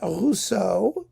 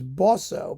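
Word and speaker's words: Boisseau: Suichi Okada, and Adrienne Rousseau. Is it Rousseau or Bosso? No, it's Bosso, pardon me.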